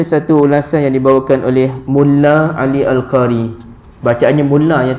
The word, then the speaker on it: Mulla: mulla ya tuan-tuan ya bukan Mullah sebab ada yang baca seinggat dalam surat khabar dulu Bila berlaku perang Amerika yang konon-konon baik tu dengan Iraq jadi dia masuk dalam surat khabar tu ejaannya m mu l l a h Umar jadi ramai orang yang baca Mullah Umar padahal sebenarnya mu l l a sahaja ataupun dalam bahasa Arab mim lam alif mulla ya mim lam alif